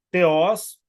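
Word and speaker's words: θεός: para Deus é teó a pronúncia teos a ênfase está eh a ênfase está na segunda Ah tá para poder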